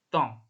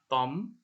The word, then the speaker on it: temps: Contohnya ini ada tong. Tong. Jadi ini bukan temp ya, atau tom. Nggak kebaca M-nya sama sekali, apalagi P-nya. Ini cara bacanya tong.